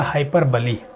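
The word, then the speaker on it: hyperbole: में कहते हैं इसको हाई पर बलि इसका उच्चारण ध्यान दीजिएगा हाइक पर बलि इसको अवसरों पर बोल पड़ते हैं क्या करते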